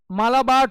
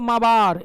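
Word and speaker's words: Malabar: ये मालाबार तट, प्रोनाउंस करते हैं इसको माबार, एल साइलेंट होता है, लेकिन हम लोग को आदत हो गई इसलिए मालाबार बोल देते हैं, otherwise it is pronounced as माबार कोस्ट।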